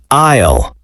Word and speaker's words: aisle: Fifth word, aisle. An aisle is the long walkway between rows of shelves in a store. Remember, the S is silent.